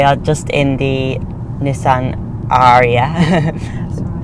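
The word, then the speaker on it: Ariya: Aria or Aria? Aria. If you think like a pirate, like R, it's Aria. Like Aria. That's the best Aria. one. That's how I remember it.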